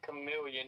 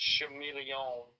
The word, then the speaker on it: chameleon: It's not chameleon. It's chameleon.